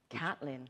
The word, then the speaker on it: Caitlin: the first thing and non-trivial thing was the pronunciation of your first name yes catlyn C yes it was uh yes no I